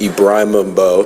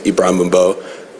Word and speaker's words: Ibrahim Mbo: you once again that my name is pronounced Ibrahim Mbo. Thank you. Yeah, he should be familiar. You know, it's the name of your patron saint, Saint Abraham, first, father of all three religions, Ibrahim Mbo.